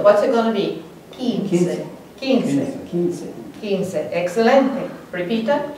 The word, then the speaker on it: quince: Quince. Look at our rule. Q-U, the U is silent. So what's it going to be? Quince.